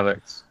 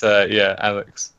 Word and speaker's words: Alyx: Is it pronounced Alyx, or I imagine? Yeah, Alyx.